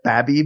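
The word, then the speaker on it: Babey: Who I think his real name is Jeff Babby, but the name is spelled B-A-B-E-Y, so he's Jeffy Baby forever.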